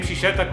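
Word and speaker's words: Cizeta: The name Cizetta comes from the Italian pronunciation of co-founder Sampoli's initials, CZ.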